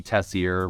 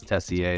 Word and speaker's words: Tessier: Yeah, I go by Tessier. Real pronunciation's Tessier. It's French Canadian, but we're good.